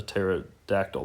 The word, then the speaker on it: pterodactyl: The P is silent, like a pterosaurus, a pterodactyl.